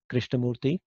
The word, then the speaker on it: Krishnamurthy: last name you know if it if you don't know how to say it it's basically divide and conquer it's four syllables so krishna murthy so that's that's that's how you say it um so anyways